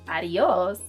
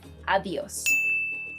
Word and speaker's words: adiós: are often mispronounced is, if you're thinking that the pronunciation is adios, I'm sorry, but no. You should say adios. So instead of adios, adios. So the D is sort of harder.